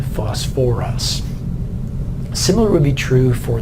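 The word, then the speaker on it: phosphorous: much like sulfuric acid I've brought an extra syllable back in so instead of just phosp us acid the sound very good we've added some the o R sound back in fuss for us similar would be true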